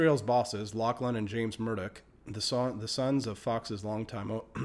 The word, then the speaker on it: Murdoch: Ailes' bosses, Lachlan and James Murdoch, the sons of Fox's longtime owner Rupert Murdoch, announced the resignation in a statement that emphasized